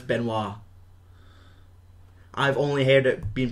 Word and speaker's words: Benoist: No, it's Benoist. Is that how you say it? Aye, because it's unless it's a silent S, then it's Benoit.